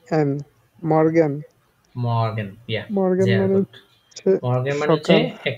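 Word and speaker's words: Morgen: তারপর দেখেছি এম দিয়ে তাইতো কি দিয়েছিলাম মারটা প্রোনাউন্সিয়েশন করেন এম ও এফ গে এ এন মর্গান মর্গান yeah মর্গান মানে মর্গান মানে হচ্ছে একটা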